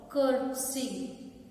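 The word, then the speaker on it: curtsy: That is called कर्टसी. कर्टसी, that is pronunciation is कर्टसी.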